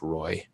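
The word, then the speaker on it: Roae: Meadville and that's Brad Roy his name is actually spelled ROA E but it's pronounced Roy and he's represents Meadville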